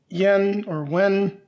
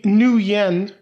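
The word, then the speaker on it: nuyen: We've got our tokens with the yen or wen. Sorry, the new yen. That's what it is pronounced. I always get that confused.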